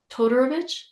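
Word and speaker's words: Todorović: Todorovich.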